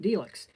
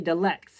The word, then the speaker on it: Delix: Just say Felix, take the F out, put the D in there, and you get Delix. A lot of people cannot pronounce it right. Some people say Delex, and I'm just like, no, it's just Delix.